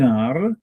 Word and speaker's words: heure: So il est 1 heure because we do not pronounce ash.